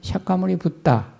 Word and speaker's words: 석가모니붓다: 불교가 되는데이 부분이 이제 우리는 석가모니불 이렇게 부르는데 인도 발음으로는 석가모니붓다 가점을 석가모니 붓다 인도 바로 옛날에는 인도의 교류를